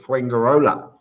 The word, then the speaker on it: Fuengirola: See, I know how to pronounce it, Fuengirola.